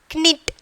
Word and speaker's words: knit: For example, you are pronouncing knit, knit, that is wrong. Knit, okay. Knit is the correct pronunciation. Knit. We are, the K is silent here.